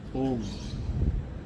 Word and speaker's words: ओम: ओम के उच्चारण में सांस का 80% ओ का उच्चारण और 20% म का उच्चारण करते हुए 5 बार ओम का उच्चारण।